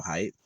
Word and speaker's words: Heidt: My name can be pronounced height correctly, but I say hate because it's like I'm digging deeper into the material reality of it, right?